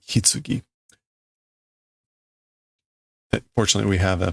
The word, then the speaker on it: 棺: Okay, this is oke or kan. This is like coffin. What is hitsugi? It is also coffin, casket. Okay, so apparently it can also be pronounced hitsugi.